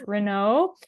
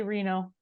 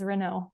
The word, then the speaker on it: Renaud: Most people do not get our last name correct. So you are right. It's Renaud. It's a fancy way to say it, but you know what? Most of the time people just say Reno. Reno. Oh, okay. Awesome. How do you say it? We say Reno, but I think the proper French way is Renaud. So Okay. We accept either.